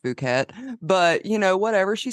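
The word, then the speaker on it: Phuket: was like I mean first off it's pronounced fukat but you know whatever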